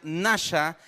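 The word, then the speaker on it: נשא: palabra hebreo y impulsó en hebreo se pronuncia nasa que viene de una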